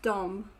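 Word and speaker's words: de: is interesting thing that when you see d e it's often pronounced dom yes um yeah it's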